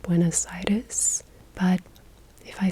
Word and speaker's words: Buenos Aires: probably going to hate the way that I say buen aaries because it's just the way we say it in English-speaking countries but I did look up how you say it properly and it seems like it's more like buen aitis but if I say